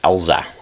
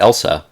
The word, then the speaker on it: Elsa: I have a friend named Elza. Not Elsa from Frozen, Elza. Spelled the same though.